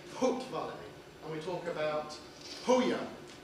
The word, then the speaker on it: Haute Vallée: Well, I'm saying it in a Jèrriais way. You could pronounce it in a French way, I suppose. But one of the differences between French and Jèrriais is we've got a H. So that's why we say Haute Vallée.